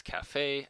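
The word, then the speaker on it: caffè: kaha by the way the Italians took the Turkish word and pronounced it as Cafe and from that word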